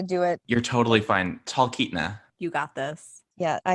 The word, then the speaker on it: Talkeetna: do you pronounce that is it talk anita or am i completely butchering it i think you're adding syllables it's talkeetna but talcanita it sounds beautiful